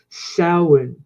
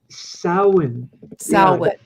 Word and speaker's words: Samhain: hang it's actually pronounced samhain samhain sally yeah it's not at all pronounced the way it's spelled but anyway they believe